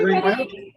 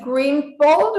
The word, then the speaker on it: Greenwell: And this is Mayor Randy Greenwald, or how do you say his name? Greenwell.